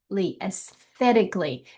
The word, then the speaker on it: aesthetically: aesthetically. And so your your emphasis is going to be on the the second syllable.